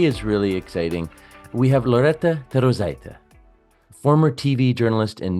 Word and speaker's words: Loretta: brand and executive presence Loretta welcome to Leading with curiosity thank you so much Nathan it's uh you pronounced my name perfectly you know with a rolling R that's how it sounds so it's perfect you